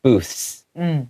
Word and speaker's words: booths: So if you read it really quickly, sometimes the TH will be lost a little bit. It'll go booths, okay? So you just have to know that you kind of want to have your tongue to come out, but the S sound comes in quickly, so it kind of takes that TH sound out a little bit, but knowing that it's there will make that word sound a little bit more authentic.